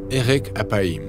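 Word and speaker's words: אֶרֶךְ אַפַּיִם: En hébreu, l'expression « lent à la colère » se prononce « erek apaim » ou littéralement « long de nez ».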